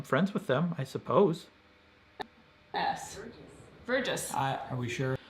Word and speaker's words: Verjus: So now I'm actually gonna look up how to pronounce it. Oop. How to, and because I don't know, I didn't trust if Google was right. It might be right. Pronounce Verjus. See. Verjus. Nope, it is right.